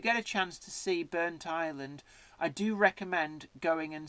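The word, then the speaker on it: Burntisland: here now this this is a railway it's burnt island now a lot of people calling burnt Eastland that is the wrong parents pronunciation the place is called burnt Island so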